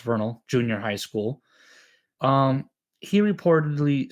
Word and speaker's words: Vernal: For example, one story involved a 13-year-old student, Dale Wood, who attended Vernal, because it's pronounced Vernal, junior high school.